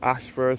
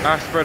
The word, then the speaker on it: Ayshford: This is situated along Ashford, St.